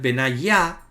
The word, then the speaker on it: Benayá: Aparecen los nombres Benayá, acentuado en la última sílaba, sí.